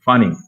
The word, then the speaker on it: funny: n and y yes when we have two consonants here two letters here we have to pronounce only one in english for example funny funny funny you are very funny